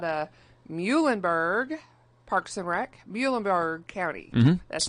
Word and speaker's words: Muhlenberg: Mr Barton out of Muhlenberg Parks and Rec Muhlenberg County that's how you say it right yes